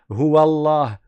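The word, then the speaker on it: الله: Et après quand tu arrives au lem, c'est là où tu rends la lettre en fatigue. Allah vous voyez Allah sans exagérer mais à pratiquer à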